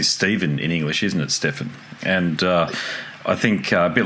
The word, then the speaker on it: Steffen: your first name curricul is it stepan or Stefan I apologies if I've gotot it wrong Stefan Stefan there you go gosh I'm so used